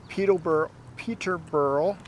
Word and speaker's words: Peterborough: We're in Peterborough.